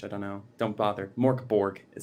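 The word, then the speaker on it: Mörk Borg: love buried i did morkeborg or merc bori if you want to pronounce it correctly which i don't know don't bother mork borg it sounds great um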